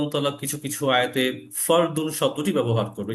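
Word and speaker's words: فرض: শব্দটি ব্যবহার করবে, যে ফরজ বলি, এই লাস্টে যে জ উচ্চারণটা, সেটা মূলত ফার্সি ভাষা হওয়ার কারণে, কিন্তু এই ফার্সি শব্দটা মূলত আরবি থেকে আসে। আরবি ফারদুন, এই ফারদুন মানে ফরজ।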